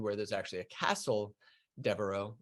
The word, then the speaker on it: Devereux: And in Ireland, where there's actually a castle, Devereux, or Devereux, if you want to say it in the French way, then that's when we got the Irish pronunciation to some of our names.